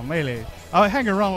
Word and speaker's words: melee: here but oh good you pronounced melee correctly a lot of people say melee melee no melee I hang around like